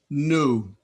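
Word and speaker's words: nu: a word Mo P new I hope that no one said V new Delta Theta Epsilon now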